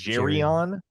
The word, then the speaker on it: Geirean: Ooh, Not what I would have guessed, but no, and and maybe they were mispronouncing it, but that's how this person pronounced the name multiple times, and I figured they would know.